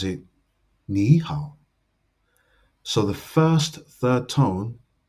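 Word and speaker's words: 你好: When two third tones appear consecutively, the first third tone changes to a second tone.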